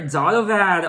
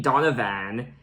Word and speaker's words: Donovan: And I just realized that I've been mispronouncing his name. I've been saying Donovan. It's actually Donovan. Donovan, not Donovan.